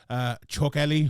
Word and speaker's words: Chokheli: Chokheli, whose name I for the first time ever have pronounced correctly, I believe.